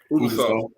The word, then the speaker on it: Ubisoft: How you pronounce that again? Ubisoft.